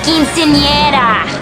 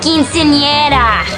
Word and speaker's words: quinceañera: It's quinceañera. It's quinceañera. Quinceañera. Quinceañera. I really thought I was pronouncing it correctly last time.